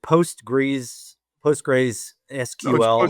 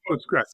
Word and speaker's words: Postgres: I cannot pronounce this is it postgra sql postress Postgress okay postgress is one of the